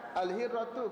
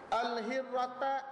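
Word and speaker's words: الهرة: Bila baca baris salah, akalat al-hirrata asama katu, tukar baris. Sepatutnya bacanya al-hirratu baris depan, dibaca al-hirrata baris atas. Asama kata patut baca baris atas, dibaca baris depan.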